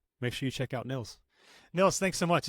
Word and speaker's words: Nils: Neils n LS my mom always says it's Hills Thrills pills Nils and I'm like all the other things mom have two L's um if you would give me two L's it would help say my name right but uh so it's like Hill thrill spills but with one L so n LS